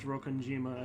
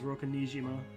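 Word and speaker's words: Rokkenjima: Sorokanjima, I will say, I think for the first several streams of this, I mispronounced Rokanjima as Rokanijima. Because there's Nijima as well.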